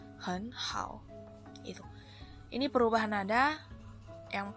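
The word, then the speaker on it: 很好: Kita bacanya sesuai aturan, maka pelafalan nada 3 yang pertama itu akan berubah jadi nada 2.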